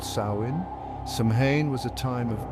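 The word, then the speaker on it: Samhain: Year October 31st this Festival was called samhan pronounced sain samhan was a time of great significance for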